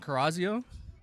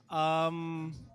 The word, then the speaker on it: Cariazo: Wh- How do you pronounce your last name? Carazio? It is pronounced Cariazo.